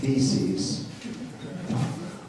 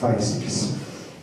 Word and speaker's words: physis: Actually, in Greek it's pronounced feces. But we have a reason in English calling it physis.